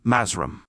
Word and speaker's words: Mathrem: He became skillful in mind control and received the lost word of the black magicians which is written a mathrem and which they pronounce mazram.